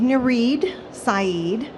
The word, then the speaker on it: Nareed Saeed: So my name is Nareed Saeed. It rhymes.